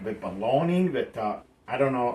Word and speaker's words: Bologna: And I think it's called bologna, because bologna or whatever you call it, because the mortadella, that is supposed to be what bologna is supposed to be, the American version of